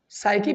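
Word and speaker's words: psyche: साइकी बेटे लफ्ज है ये, साइकी, ठीक है। He knows human साइकी, P silent होगा बेटे।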